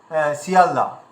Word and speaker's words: শিয়ালদা: অনেকে শিয়ালদা বলছি, শিয়ালদা, অনেকে বলছে শিয়ালদা। তা আসলে কোনটা ঠিক আপনারা এবার বুঝতে পারবেন যে উচ্চারণটা যখন আমাদের জিভের সেটিং হয়ে যাবে। দেখুন, প্রথম যে স রয়েছে, এই শয়ের উচ্চারণটা আমাদের কেমনভাবে করতে হবে, এটা তালু দিয়ে করতে হবে।